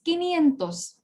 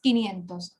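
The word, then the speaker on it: quinientos: different than cinco and doesn't even end with sientos okay it's a special one so i'm sorry about it but just learn it okay it's kini and those okay okay do not pronounce it in a different way it is kenyan okay 500 is kini antos okay kinentas means 500 right cinco becomes kenyan those when we call it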